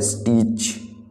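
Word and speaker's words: stitch: सिलाई, सिलाई का मतलब है स्टिच। स्टीच, तो स्टीच में जो आपका साइलेंट लेटर है वो है टी, टी। स्टीच को प्रोनाउंस करते समय टी का यूज नहीं करते हैं।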